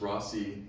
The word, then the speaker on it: Rossi: that we kind of told everybody it's Rossi. This is the pronunciation we're going to go with. Yeah. Now, go to Middletown. No one's going to pronounce it like that, right? Rosai and Rossi.